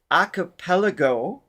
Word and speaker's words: Acapellago: Acapellago is the pronunciation I'm going with, because it's acapella with a go at the end of it.